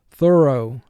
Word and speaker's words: thorough: Here, O-U-G-H is representing the long O sound, so we underline O-U-G-H and put a 4 under it.